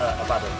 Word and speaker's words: Abaddon: Sorry, how do you pronounce it? Abaddon. It is Abaddon, yeah.